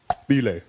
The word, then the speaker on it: Bile: The guy goes, "My name is pronounced Bile." He had a click in his name.